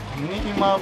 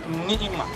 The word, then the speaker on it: Ni'ima: Nima means it's Arabic language. It's not Nima, it's Ni'ima. Ni'ima. Yes. Okay. But some of the people, they can't pronounce it and they say Nima.